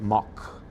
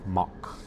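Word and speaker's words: Mack: So yeah, Mac or Mock is a German provider, a vendor, they make, you know, theme park rides, uh, roller coasters, uh, flat rides, but Mock.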